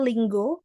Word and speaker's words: Duolingo: Kemudian ini ini aplikasi Duolingo jadi bacanya lingo bukan lingo.